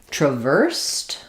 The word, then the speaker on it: traversed: So, here again, because we're stressing on the verse syllable letter, the first letter a is going to be awah. Sounds like tr vowel there. And then it's just like the word verse.